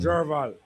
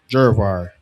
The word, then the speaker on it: Jervar: Jervar from Bumble Splash Car Wash on Jerval. Jervar. Yeah. How you spell that?